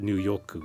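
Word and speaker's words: ニューヨーク: And there's a play on words there where New York in Japanese is pronounced New-yoku, which sounds like hot water in Japanese.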